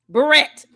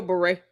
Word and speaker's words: beret: Even if you do say barret, you've got to butcher the same word she butchers, you know, because it's still beret.